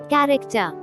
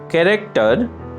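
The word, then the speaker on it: character: ক্যারেক্টার, ক্যারেক্টার, চরিত্র, অক্ষর, স্বভাব। ক্যারেক্টার, চরিত্র, অক্ষর, স্বভাব। এখানে মার্ক করা এইচ লেটারটি অনুচ্চারিত থেকে যাচ্ছে।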